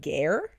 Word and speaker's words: Guerre: the name Martin Garr how do you spell gear g-u-e-r-r-e it is pronounced gare I believe so this could be